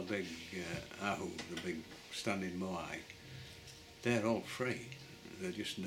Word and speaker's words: moai: I mean, I know I quite often call these moai moa.